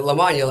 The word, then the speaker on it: Lamagna: Lamagna, like lasagna.